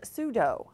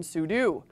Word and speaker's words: sudo: a Mac quick tip he pronounced pseudo as pseudo similar to the martial art of Judo rather than sudu pronunciation mistakes like this